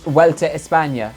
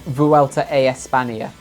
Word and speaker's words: Vuelta a España: So pronounce it correctly. It's derailla, not derailla. It's Vuelta a España, not Vuelta a España.